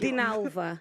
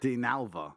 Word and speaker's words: Dinalva: I can't pronounce it. Dinalva. Dinalva.